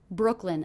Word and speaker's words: Brooklyn: in Brooklyn in Brooklyn Brooklyn a two cable word one of the syllables will be stressed what do you hear as being stressed Brooklyn Brooklyn definitely it's that first syllable Brook Brook Brooklyn Brooklyn